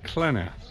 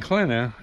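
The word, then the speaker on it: Qena: Today we are in the province of Klena. And Klena, which is spelled Q-E-N-A, and we're at the Dendera temple.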